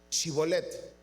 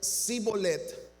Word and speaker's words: shibolet: le decían ahora pues di shibolet y si él decía sibolet porque no podía pronunciarlo correctamente entonces le echaban mano y